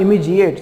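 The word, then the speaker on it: immediate: तो adjective इमीडिएटली का इमीडिएट होता है, क्या होता है, इमीजिएट, सॉरी डिएट भी नहीं, डीजिएट, उसको प्रोनाउंस कैसे करते हैं, इमीजिएट, इमीजिएट, ठीक है, इमीजिएट।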